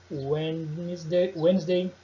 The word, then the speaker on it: Wednesday: A letra D não, assim, ela não possui um padrão geral, mas ela fica muda nas seguintes palavras que eu separei. Ó. Observe elas. Sandwich, Wednesday e handsome. Você não vai pronunciar os desses. Sandwich, Wednesday, handsome.